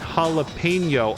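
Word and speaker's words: jalapeño: I won't help you it's jalapeno oh he's very particular about the Enya that's what you call that like symbol isn't that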